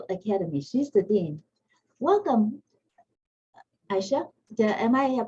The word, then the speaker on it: Aicha: Welcome, Aicha. Am I pronouncing your name correctly?